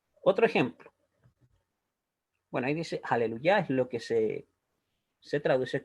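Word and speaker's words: הללויה: las biblias en español en abril se dice aleluya con las actuaciones la última sílaba entonces esta regla nos dice que el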